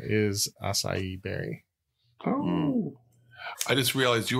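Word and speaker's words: açaí: parenthetical as acai berries okay that's how you say that kels acai allison that was some people say akai don't they is it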